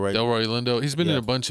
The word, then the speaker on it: Delroy Lindo: Delroy Lindo.